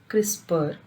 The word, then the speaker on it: CRISPR: It is pronounced as CRISPR, stands for clustered regularly interspaced short palindromic repeats, which are the trademark